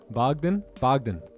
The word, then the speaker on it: Bogdan: Bogdan. I'm over here like Bogdan. Like what, dude? It's one word. Is it Bogdan?